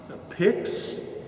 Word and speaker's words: pyx: of special right uh pix pyx is the way it's spelled it's just something that